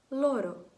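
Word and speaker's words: loro: Наприклад, слово в мене є тут «лоро», «лоро». Як чуєте, в мене така взагалі ледь-ледь «р».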